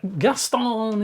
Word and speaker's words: Gaston: and Gaston is is I'm going to have to say it like lumere in uh Beauty and the Beast yeah Gaston he he uh is